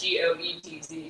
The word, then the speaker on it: Goetz: So if you're interested in that topic, it's Michaela Getz, Goetz, spelled like goats.